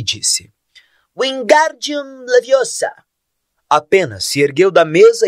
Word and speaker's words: Wingardium Leviosa: Você está dizendo o feitiço errado. Harry ouviu Hermione corrigir aborrecida. É Wingardium Leviosa. O gar é bem pronunciado e longo.